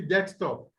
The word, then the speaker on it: desktop: If it's a noun, the stress will be on the first word, which are the top, okay? Desktop, the first syllable word that is, will take the stress, the primary stress.